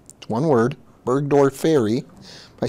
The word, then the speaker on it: burgdorferi: e li a borr e li a Marilia burgdorferi one word burgdorferi by saying that's pretty close isn't it I've